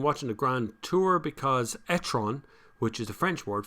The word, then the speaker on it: e-tron: but has been watching the grand tour because etron which is the french word for turd and that is true uh but it's not spelt quite the same it depends how pronounced it's actually e-tron e-tron is how to but it's a funnier